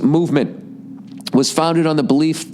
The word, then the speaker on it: MVMT: four-wheeler on your property mvmt watches everybody pronounced movement was founded on the